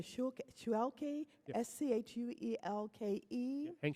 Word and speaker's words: Schuelke: And it seems that I think his name is pronounced Mr. Schuelke, Yep. S-C-H-U-E-L-K-E. Hank Schulke.